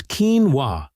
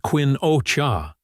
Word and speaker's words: quinoa: Most people still can't pronounce it right. It's keen-wah, not quin-o-cha.